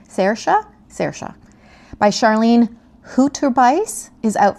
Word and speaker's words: Saoirse: I had this memorized, how to pronounce this beautiful Irish name. Saoirse by Charlene Hooterbeis is out February 24th.